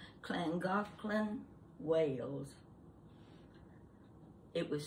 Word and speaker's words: Llangollen: might be from Wales, I'd know the correct pronunciation of Llangollen.